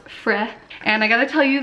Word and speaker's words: Frey: It's pronounced Frey.